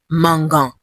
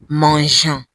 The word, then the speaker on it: mangeant: For GER verbs, add E for soft G. The French like things to be soft and not hard. So it's not mangeant. It becomes mangeant.